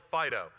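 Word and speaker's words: FD.io: open source project called Fido it's the fast data plane FDI OH we pronounced it Fido because it's cute scene we have a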